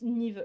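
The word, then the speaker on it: Niamh: Non, attendez, Niam, ça se prononce pas Niam, ça se prononce Niv, je crois. C'est un prénom en gaélique, et je crois que Niam se prononce Niv, donc je vais le prononcer Niv.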